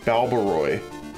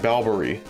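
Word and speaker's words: Balbaroy: would be that but it's spelled b a l b a r o y so it's like baloy and I kept saying balber like almost as if there was no o and I've been saying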